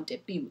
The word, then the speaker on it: debut: 都可以叫 debut， T 不发音。